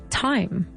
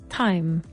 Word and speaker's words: thyme: Q human cumin do this is with a th but we don't pronounce it with a th we say time okay not th